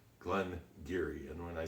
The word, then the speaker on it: Glen Garioch: was and everybody is telling you how to pronounce Glenn Geary and when I say Glengarry and you look at the way it's spelled